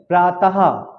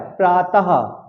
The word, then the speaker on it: प्रातः: प्रातः। प्रातः। देखिए लास्ट में मेरे हा निकल रहा है, प्रातः।